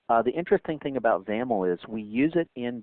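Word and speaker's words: XAML: um by the way zaml X m l is the is the acronym there and that's pronounced with a you know rhyming with camel so let's go ahead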